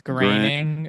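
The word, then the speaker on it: Groening: Matt groaning or groaning, or I don't know how we're supposed to pronounce it. I think it's graining. Yeah, people were telling us I feel it was like graining. under like Goethe rules, it's like groaning or like Goebbels.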